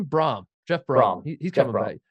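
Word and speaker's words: Brohm: Brom. Jeff Brom. He's coming back. Well, Steve Prohm messed me up, like that broke my brain when Steve Prohm went to Iowa State and then Jeff Brom's at Purdue and then, he's coming, right?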